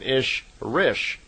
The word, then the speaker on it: Ishrish: And a female Ishwish is called an Ishrish, I-S-H-R-I-S-H. So in effect, Semyasi is an Elo-Ishrish, is how they would pronounce it in her language.